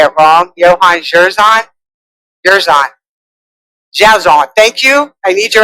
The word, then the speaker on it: Dzierzon: say it wrong) Johann Dzierzon. Thank you! I need your accent, I’ve been working on this one. I’m dyslexic, I’m calling him Dzie-zer-zon. But that wasn’t working.